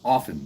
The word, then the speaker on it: often: It's like idiots that say the word often. It's often the T silent.